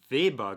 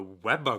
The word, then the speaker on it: Weber: Oh, a Weber grill. A Weber! And yeah, just that different pronunciation. Weber and Weber And I threw me off.